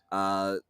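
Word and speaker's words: Letourneau: her youth, particularly the case of Mary Kay Laterno. Laterne. Laterno. Laterno. Okay, thanks for the pronunciation.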